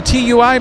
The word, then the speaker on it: TUI: It's not that, it's ti. It's tui. Tui.